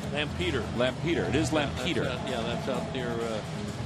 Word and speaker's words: Lampeter: went to uh I don't know if I'll pronouncing this right Wheels you might not need to help me with this lader strawberg Lampeter Lampeter it is Lampeter yeah that's out there uh Lancaster I believe